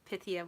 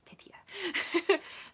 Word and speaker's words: Pythia: And I got the Pythia Botanica, and I looked online to make sure that Pythia was how you pronounced it. So I was like, okay, Pythia.